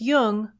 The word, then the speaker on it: Jung: just be sure to pronounce jung with a hard j so with special thanks